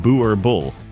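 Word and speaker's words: Boerboel: In the vast farmland estates of South Africa, one breed has stood guard like a living gate for generations, the Boer Boel. Pronounced Boer Bull, this dog was bred not to look intimidating, but to be intimidating.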